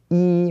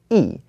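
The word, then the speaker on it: 一: one with one okay so one is normally pronounced as e when we only talk about the number one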